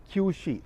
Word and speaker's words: Qiushi: So, once again pronunciation, Qiushi.